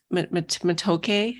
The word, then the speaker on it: Matoke: go by or do you go by um matoke is that how you say it yeah well